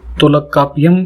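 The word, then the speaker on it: தொல்காப்பியம்: Next है तोलकापियम या तुलकपियम, ऐसे कई बार अलग अलग तरीके से प्रोनाउंस किया जाता है इसको।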